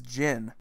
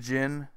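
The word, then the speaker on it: Jin: next one here is gin and some people enunciate things differently here and it's usually they over pronounced the Dee Dee Jen it's not did gin its gin and there are a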